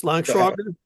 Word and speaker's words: Langschweiger: It's Langschwager. The W doesn't turn into a V for some reason.